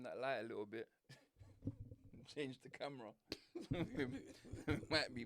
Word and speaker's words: Chan: Is Shan Shan, if you CH, does it pronounce Shan Shan? Or is it Khan Khan? That's two different words, bro. CHAN. Khan is KH. But it can't be CH. No, that's Chan.